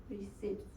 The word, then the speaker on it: receipts: receipts for reimbursements receipts receipts no that's no P receipts receipts okay together rece receipts rece no P okay it's a silent P continue please and don't